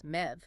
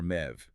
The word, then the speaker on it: Medb: Well, the report insists that MAB originates from the ancient Celtic goddess Med, spelled Me DB, but pronounced and later spelled as Mev. Med or Mev.